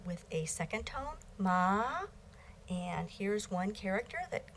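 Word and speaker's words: 骂: okay finally we have this combination of fourth MA and we have this character it is pronounced ma and means scold so with with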